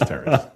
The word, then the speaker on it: Terence: name only on paper think about it yeah two syllables exactly so no my name is Terence that's it no nicknames